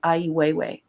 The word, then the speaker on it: Ai Weiwei: in the art community i believe how you pronounce his name is ai weiwei and he's a very subversive artist and what